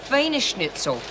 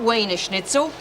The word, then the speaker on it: Wiener Schnitzel: Because it's Wiener Schnitzel, not Wiener Schnitzel. It's spelt with a V.